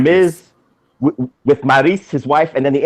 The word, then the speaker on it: Maryse: And ever since they put him together with his wife, Maryse, how do you say her name? Is it Maryse? Maryse? No, Maryse. Maryse. Maryse. Oh, she is French.